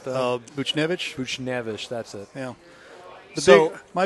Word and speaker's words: Buchnevich: Can't pronounce once his name right, though. Buchnevich. Buchnevich, that's it.